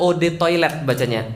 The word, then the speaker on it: eau de toilette: "Eau de toilette" artinya—diucapkan "oh toilet." " Eau" atau "o" artinya air, dan "toilet" hanyalah toilet.